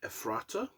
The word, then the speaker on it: Ephrata: Texas in July is an American metalcore group from, now, I think this is pronounced Ephrata, Pennsylvania.